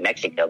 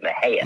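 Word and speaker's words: Mexia: A lot of people pronounce it Mexico, but it's actually, we pronounce it Mejia.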